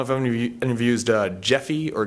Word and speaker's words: Gephi: But you can export it, and I don't know if any of you used Gephi or Gephi. It's spelled with a G, so it's one of those GIF things.